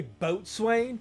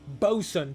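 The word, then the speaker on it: boatswain: Did you just say boat swain? Wow, you're such an idiot. It's pronounced Bosan.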